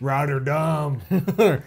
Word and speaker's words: Rotterdam: renee's home city is rotterdam roger dumb it's dutch rider dumb hey we write her